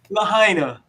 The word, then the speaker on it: Lahaina: Is it pronounced Lahaina or Lahaina? Lahaina.